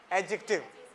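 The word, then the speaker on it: adjective: वो रूल यह है कोई भी वर्ड अगर एडीजे से स्टार्ट हुआ है एडीजे से स्टार्ट हुआ है तो उसमें डी साइलेंट होता है डा साउंड साइलेंट होती है व्ट इज द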